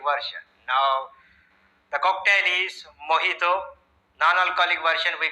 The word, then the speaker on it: mojito: It is spelled as M-O-J-I-T-O but pronounced as mojito because it is a Spanish word. In Spanish, J is pronounced as ha.